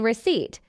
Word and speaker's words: receipt: The letter P is silent in receipt.